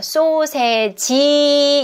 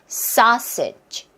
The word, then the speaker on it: sausage: 소세지 이렇게 모음을 넣으시면 안 돼요. sausage 해서 끝사운드에지 이렇게 모음을 만들면 안 된다.